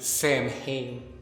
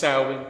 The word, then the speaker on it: Samhain: the real goats man oh horse you probably pronounce it samhain but it's actually pronounced saowin and the celtics are a basketball team but